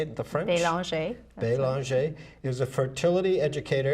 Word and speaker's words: Belanger: Belanger.